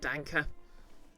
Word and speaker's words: Danke: but you're pretty sure the E and dank isn't silent oh yeah it's pronounced like Danka which I know because